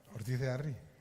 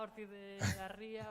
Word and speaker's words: Ortiz de Arri: Y has pronunciado mi apellido bien también. Ortiz de Arri, claro. Sí, no, pero me llaman de todo. Ya me imagino. Ortiz de Arrizabalaga, Ortiz de Garría, Ortiz de Barría.